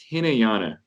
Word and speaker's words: Hinayana: Yeah, it's pronounced Hinayana.